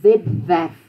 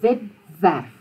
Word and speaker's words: webwerf: W is pronounced V. Except if it comes after an S or a T, something like that, then it would be tw or sw. But if it's the beginning of the word or the beginning of the syllable, it's a V.